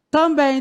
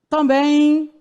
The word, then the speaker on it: também: Você não fala também. Ninguém fala também, de jeito nenhum, gente. Nós falamos o M ao final das palavras, ou ele tem som de U, ou ele tem som de I.